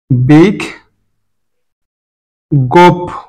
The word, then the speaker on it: বিজ্ঞপ্তি: উচ্চার হচ্ছে অদ দ্বিতীয় এবার আস বিজ্ঞপ্তি বানাটি এখানে জ ইয়টা আছে জটা আগে ইয়টা পরে অর্থাৎ এখানে বিগ এটার পরিবর্তে দুটো গ আসবে বিগ বিগ গোপ বিগ গোপ এইযে জ ইর পরিবর্তে দুটো গ এ এসেছে এবং বলা হয়েছে এখানে ইটা